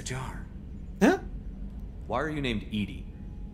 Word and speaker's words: EDI: why are you named edie edie is the phonetic pronunciation of edi no way that is